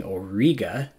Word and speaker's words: Auriga: and that works too a good way to remember the name for that is instead of saying Auriga say it with a soft G alright Jay what would you say to a chariot I'll ride you right all right yeah